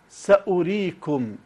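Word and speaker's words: سأوريكم: الدائره التي فوق الواو هذه تستخدم في المصاحف للدلاله على ان هذا الحرف زائد كتابه بمعنى انه موجود في المصحف مكتوب ولكن ليست له قيمه صوتيه لا ينطق به حرف صامت غير مقروء اذا نقراها ساريكم ساريكم اذا هنا كتب الحرف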